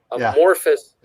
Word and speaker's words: amorphous: But when I had some of the, I always mispronounce this, the anthropomorphic panels.